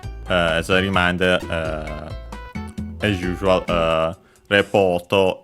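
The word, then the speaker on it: レポート: As a reminder, as usual, Repoto is accented on the po, just like in English, but of course for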